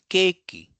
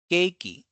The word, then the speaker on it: keiki: So such sound is perceived as a long E or less frequently as a. So this comes here, the example, keiki, keiki. So this is a. So we have to write the E based character of Japanese, and it will be followed by a dash. That means we have to elongate that syllable. So it's keiki. Similarly, table becomes teiburu, teiburu, teiburu.